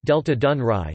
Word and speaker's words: Delta Dunării: The Danube Delta, Romanian, Delta Dunării, pronounced Delta Dunăre, Ukrainian, Delta Dunăre, translate Delta Dunaju, is the largest river delta in the European Union.